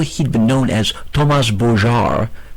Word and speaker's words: Bogart: He was born and raised in the States, and though he'd been known as Thomas Bogart, in French the G is pronounced like a J, for over 10 years,